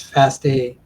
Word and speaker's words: FASTA: Uh we call it the fast fast a or fast. I use the word faster. I think the proper pronunciations fast a faster format.